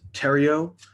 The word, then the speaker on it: Theriot: uh hi mary maze no it's uh it's french so it's terrio so um thank you mayor thank you council my name is tario t-h-e-r-i-o-t uh address is